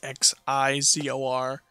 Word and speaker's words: Xizor: And then the other one I have is Darth Vader and however you want to pronounce it, Prince Xizor. It's Xizor.